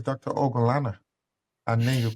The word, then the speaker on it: Ogunlana: Ogunlana. And then you correct them, say it's Ogunlana. There's only three different syllables. Mm. Ogun, Lana. Like you can say it.